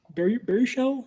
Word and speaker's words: Baruchel: So I appreciated Baruchel. Am I saying it right? Baruchel? Yeah, Baruchel.